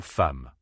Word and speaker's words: femme: Alors, il faut le prononcer comme un e muet, un peu comme dans le mot le. C'est un son très bref, presque imperceptible. Femme.